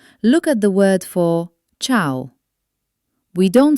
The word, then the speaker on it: ciao: Sometimes, you will see the letter E standing between the letter C and another vowel. In these cases, the letter E is actually silent. It's not there to be pronounced. It's only job is to tell you that the C must stay soft like the ch sound.